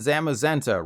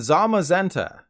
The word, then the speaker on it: Zamazenta: You probably said Zacian and Zamazenta, right? Well, I've got even more bad news. It's actually Zacian and Zamazenta.